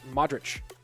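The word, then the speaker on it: Modrić: oregon though who knows it's pronounced modric not modern modric okay oh yeah because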